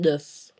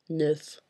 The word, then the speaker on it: neuf: The final consonants in a word are not pronounced in French unless that consonant is in the word careful.